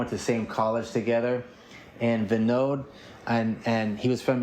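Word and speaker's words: Vinod: And I met um a young man um uh I I think he pronounced it um Vivad um Vivad is how you would say. Oh no. Venode. Venode. V I N O D.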